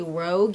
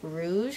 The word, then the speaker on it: Rouge: That's a mouthful for some reason for me, because I want to say Rogue, even though I know Rogue is pronounced Rouge, kind of like Moulin Rouge.